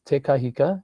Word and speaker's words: Te Kahika: our program saying, you've got to get Billy Te Kahika on. Am I saying that name correctly? Because I always do it wrong. How do you say it? Not bad. The pronunciation is Te Kahika, and you're doing very well, John.